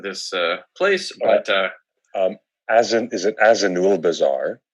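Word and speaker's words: Azanulbizar: Jim will properly pronounce the name of this place, but is it Azanul Bazaar?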